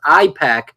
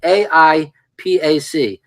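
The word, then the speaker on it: AIPAC: very people APAC now when he says ipac it's a different pronunciation it's AI Pac the American Israeli political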